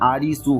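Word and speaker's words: アリス: बाकी एलिस के लिए एक रेफरेंस ये भी हो सकता है या आ रहा है, क्योंकि जापानीज में एलिस का प्रोनाउंसिएशन आरिसू होता है, जो मेन लीड था इस सीरीज का एलिस इन बॉडीलैंड का।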